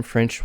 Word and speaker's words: French: and some french wine so again french not frenchy but french tongue curled up french wine and main stress on wine french wine next do you have